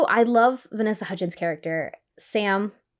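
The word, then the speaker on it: Sa5m: love vanessa hutchins character sam it's but it's spelled s a five m so it's sam the five is silent and being a nine-year-old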